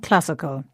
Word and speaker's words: classical: same with classic and classical in both words the stress is on the same syllable this time CLA so historic historical classic